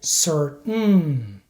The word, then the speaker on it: certain: make sure that you don't release the T sound so don't say Sir in American English you have to hold the t sound so you should say certain written Britain and as